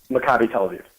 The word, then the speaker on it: Maccabi Tel Aviv: Do you feel that because he coached at is it how do you pronounce it, like Maccabi Tel Aviv? Maccabi Tel Aviv.